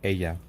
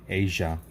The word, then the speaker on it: ella: This is kind of double L's kind of pronounced like a E. So you want to say her, be like ella. Ella equals her. But in like Spain, whatever, they say Asia, kind of with an S-H, Asia.